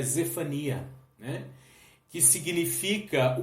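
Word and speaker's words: צפניה: diz o fone as lá no hebraico a gente tem uma pronúncia um pouco diferente seria Z Fania né que significa o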